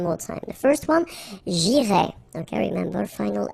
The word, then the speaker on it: j'irai: The first one, j'irai. Okay, remember, final S not pronounced.